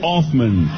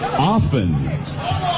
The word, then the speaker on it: Offen: Offman. He's making me come back cuz I said his name wrong. Offen.